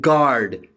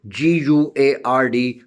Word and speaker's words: guard: And guard, G-U-A-R-D, guard, U is silent.